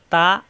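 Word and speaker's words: ت: দিলে হয়ে যায় বা তা জিহ্বার আগা উপরে দুই দাঁতের গোড়ায় লাগিয়ে ছেড়ে দিলে হয়ে যায় তা উপরে দুই নক্তা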